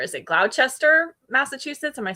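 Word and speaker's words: Gloucester: Joining from is that is now I don't think we pronounce that the way the British would, which would be Glouster. Is it Glowchester, Massachusetts?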